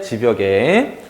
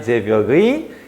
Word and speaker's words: 제벽: 자, 이론 아래 지벽에, 사실은 지벽이라고 읽으면 안 되고 제벽이라고 읽어야 되는데 너무 읽기가 어려워요. 대충 읽읍시다. 어쨌든 이론 아래 제벽의 이로라는 내가 자갈벌에서 낭이여